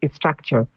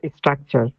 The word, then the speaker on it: structure: body sorry a physical structure physical structure and the research I'm sorry Could you actually pronounce it as structure not structure because there is no e in front of s so can you say